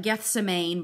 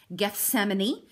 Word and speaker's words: Gethsemane: You may not have known how to pronounce it because it looks like Gethsemane, but that's not how you say it. It's Gethsemane.